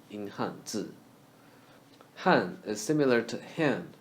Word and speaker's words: Hanzi: Z, z, that's the pronunciation of z in Hanzi.